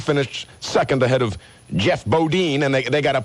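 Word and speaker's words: Bodine: so that you know how to say Boddin or Boddine. I always thought it was Bodin like Jethro Bodin. Haven't you ever watched the Beverly Hillbillies? Well, the Hillbillies pronounce it Bodin, not Boddine. Maybe it maybe Jeff Boddine like iodine or iodine Kurt Bush ahead of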